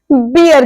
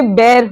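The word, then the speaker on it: bear: ई ए आर भालू जिसे लोग बियर कहते हैं प्लीज इसे बियर मत कहिए ये बेर होता है बी ई ए आर यानी कि भालू बेर होता बियर नहीं बहुत से लोग भालू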